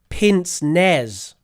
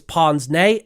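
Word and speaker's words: pince-nez: said it's something like pin NZ and I found out that's wrong that's wrong because we actually use the French pronunciation for that word so we actually say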